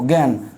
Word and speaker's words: জ্ঞান: হচ্ছে দেখো এই যে দেখো জ্ঞান তা কি হয় জ্ঞান এই ন কিন্তু ঠিকই আছে কারণ এই জায়গায় দেখো চেঞ্জ হয়ে গেছে খেয়াল করছো এই জায়গায় কিন্তু এই এখানে ইয়র উচ্চারণটা কিন্তু নাই ইয় এর উচ্চারণ নাই মিলিত এটা মিলিত এটা মিলিত